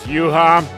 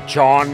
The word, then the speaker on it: Juha: my my name is juha uh americans call me chon because my name is so hard hard to pronounce i am today here